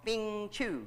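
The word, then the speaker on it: feng shui: a situation a practice called fing chu i think that's how you pronounce it f-e-n-g f-e-n-g-h-s-h-u-i huh thing she well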